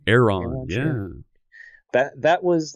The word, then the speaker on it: Aeron: How's it pronounced? The Aeron? Aeron, yeah.